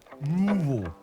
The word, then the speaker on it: Louisville: That's how you say it. Louisville. Yeah, just like that. Louisville.